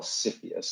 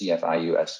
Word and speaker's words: CFIUS: Now, when we're talking about investment, you may have heard about this in 2018, this group called CFIUS, that's how this is pronounced, CFIUS.